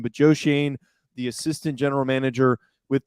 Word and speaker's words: Joe Schoen: now hiring their next general manager that being joe shane that is the correct pronunciation as we figured that out we also have determined that is the exact pronunciation but joe shane the assistant general manager with the buffalo bills